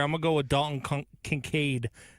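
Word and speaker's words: Kincaid: I'm gonna go with Dalton Concincaid. I almost did butcher it and called him Concaid.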